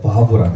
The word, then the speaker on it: 바브: 그리고 여섯 번째가 와우, 바브라고 했어요. 못, 사람이라는 뜻입니다. 예, 와우. 이것도 바브, 비읍 소리도 나기도 하고 때때로는 이응 소리. 예전에는 와우라고 했어요. 와우. 지금은 바브 이렇게 읽습니다.